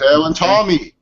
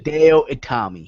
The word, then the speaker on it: Hideo Itami: Hideo and Tommy. Hideo and Tommy. How dare you? I'm sorry. You cannot get his name wrong.